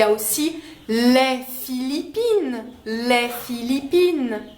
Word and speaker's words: les: différence c'est-à-dire que les on ne va pas prononcer le S final si le mot qui suit commence par une consonne les Philippines les problème